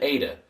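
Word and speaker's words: ἦτα: It's an ada and it's pronounced a as in eight.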